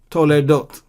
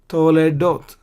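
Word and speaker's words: תולדות: This is Qamats, a long vowel. So therefore, and because it occurs before the schwa, where the letter, the letter under which the schwa is there, this is a long vowel, and therefore we vocalize the schwa. Hayata Toledot. Why? Because to is kolam wow, long vowel, and so we vocalize it.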